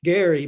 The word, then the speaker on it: Gerry: And I say Gary because Elbridge Gerry pronounced his name with a hard G.